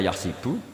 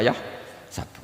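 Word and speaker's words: يَحْسَبُ: Karena dalam qiraat sab'a ada yang baca yahsibu, qiraat kita baca yahsabu. Tapi guru-guru kita kalau ngajar fikih itu bacanya yahsibu. Tapi kalau baca Quran yahsabu. Ya kan Quran kita kan ayah sabu Allah yaqdiru alaihi ahad, bukan dibaca ayah sibu.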